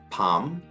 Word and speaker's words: palm: A 다음에 LM이 나왔을 때 그때 L 역시 묵음입니다. 대표적인 예로는 calm, palm이 있습니다.